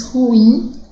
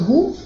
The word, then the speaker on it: ruim: a palavra ruim bom na verdade a maioria das pessoas diz ruim é ruim ou um né coloca a sílaba tônica no rumo e na verdade é ruim é a pronúncia correta seria ruim com a sílaba tônica no insta assim como único fim